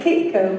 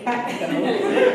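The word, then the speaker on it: CAPECO: Central Oregon it's catco it looks like CCO but it's catco um we always say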